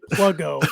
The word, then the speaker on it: Pluggo: everybody doesn't know there it's actually plugo is how you pronounce it by but but plugo